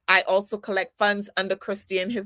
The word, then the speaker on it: Christien: part um but i also collect funds under christian his name is christine spelled with the e c-h-r-i-s-t-i-e-n christian keyless it's spelled